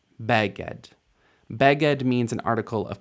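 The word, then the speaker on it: בגד: the stress goes sometimes this isn't Beed this is beged beged here the difference it's not beged it's beged beged means an article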